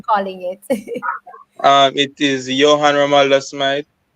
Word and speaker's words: Johan: it when I'm calling it um it is Yan romaldo Smite y okay it's Johan okay so